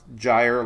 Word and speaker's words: gyre: say it one year it's pronounced gyre like tire all right tropics all